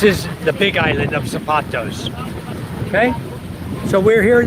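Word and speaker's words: Zapatos: As it's spelled on some maps SA P A T O S, but it's really Z A P A T O S.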